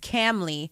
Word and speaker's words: Kamali: much uh she said my name is pronounced camley it's only one drill